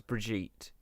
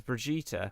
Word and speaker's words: Brigitte: line that was Datamined, it was Brigitte. But the Swedish version of pronouncing it is Brigitte, which is how Jeff Kaplan pronounced it in the announcement.